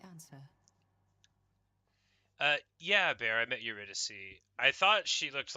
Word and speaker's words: Eurydice: Of course, it's pronounced Eurydice, but everybody says the C's wrong, and so I do too.